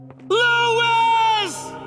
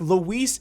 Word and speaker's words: Luis: It also didn't help that Leon just straight up pronounced his name wrong as he died. Louis! Who's Louis. But in the remake, Luis is such a better character.